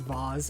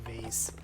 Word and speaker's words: vase: anyway here's some junk it's pronounced vaz and not vase they are correct by